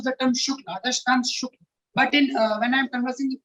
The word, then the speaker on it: Shukla: Generally, the thing accepted in Uttar Pradesh is that the male candidates, they pronounce as Shukla, and the females they call Shukla.